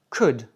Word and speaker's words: could: utilise code, ce sera plus poli et si tu prononces pas le L, tu auras l'air plus naturel.